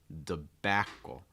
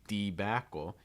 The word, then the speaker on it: debacle: the last one here debacle The Backle notice that the first syllable gets reduced so it's not usually going to be debacle you may hear Sometimes